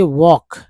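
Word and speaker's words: walk: एल के में एल जो है साइलेंट है। के का उच्चारण हो रहा है के के से क। तो डब्ल्यू एल के वॉक है ना वॉक वॉक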